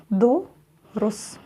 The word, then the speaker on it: дұрыс: То есть мы только начали произносить букву «о» и тут же закончили. И у нас получается «о». «О». «О». Дұрыс.